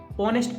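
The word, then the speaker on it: honest: इसको हम पढ़ते हैं ऑनेस्ट इसको कभी नेस्ट नहीं पढ़ते हैं इस एच को हम क्या नहीं करते हैं पढ़ते नहीं है ऑनेस्ट पढ़ा जाता है इसको ठीक है ऐसे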